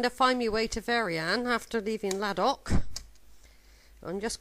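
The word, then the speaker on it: Veryan: Excuse me, how do you pronounce this place? Verian.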